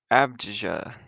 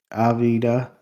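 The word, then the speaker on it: Avdija: And then team world, we have Giannis, Denny Abda. Is that how you say his name? Avida.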